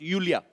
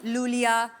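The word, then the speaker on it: Iulia: Pronounce Yulia. Yulia. And the spellings are I-U-L-I-A. So I Thank क्यों God मतलब? you know. I mean, why I? Thank God. Everyone is calling me Lulia, but Lolia I like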